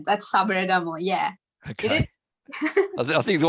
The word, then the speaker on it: Sabaragamuwa: Sabaragamuwa. Yeah. How do you say that, Sachi? Yeah, that's right. That's Sabaragamuwa.